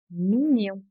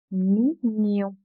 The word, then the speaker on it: mignon: The letter GN is pronounced like ni in onion. Mignon. Mignon. Gagner. gagner.